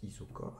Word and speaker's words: isochore: Alors ça, s'écrit isochore mais ça se prononce isochore avec un H.